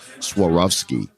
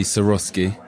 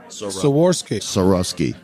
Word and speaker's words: Swarovski: I didn't even know the correct pronunciation of this until just now. I always thought it was Swarovski art.